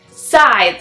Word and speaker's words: Scythe: Okay, it's not Skype, it's Scythe. It is Scythe.